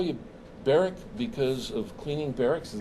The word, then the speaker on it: Barak: And did your dad call you Barak because of cleaning barracks?